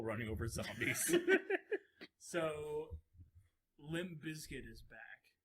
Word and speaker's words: Bizkit: over zombies so Limp Bizkit is back like biscuit for the record do you mind that's spelled b-i-z-k-i-t and I don't know